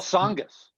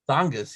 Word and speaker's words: Tsongas: I forgot how you pronounce this guy's name. Paul Tsongas. Tsongas, yeah.